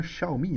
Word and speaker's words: Xiaomi: qui est chinoise et on dit bien Xiaomi hein Chao Xiaomi ch enfin comme si vous mettez C H a o m i Xiaomi c'est pas alors